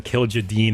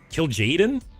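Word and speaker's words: Kil'jaeden: Bro is calling him Kill Jadine again. It's like kill Jaden. Oh yeah, you guys told me how to say it. Kill Jaden. It's Kill Jaden, right? Like Kill Jaden Smith.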